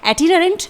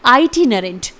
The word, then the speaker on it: itinerant: यहाँ पर मैं आपको बताना चाहूँगी कि इस वर्ड को हम दो तरीके से बोल सकते हैं, यानी पहला होगा ब्रिटिश एक्सेंट में और दूसरा होगा अमेरिकन एक्सेंट में। ब्रिटिश एक्सेंट में आप बोल सकते हैं एटिनरेंट, जो मैंने अभी आपको बताया, लेकिन अमेरिकन्स जो होते हैं वो इसे प्रोनाउंस करते हैं आइटिनरेंट। तो इस तरह से दोनों ही साउंड आप बोल सकते हैं, दोनों ही करेक्ट होंगे प्रोनाउंसिएशन में।